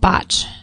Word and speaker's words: Bach: And I think you say it botch. Oh, is that right? Batch or botch, but it's spelled like Bach.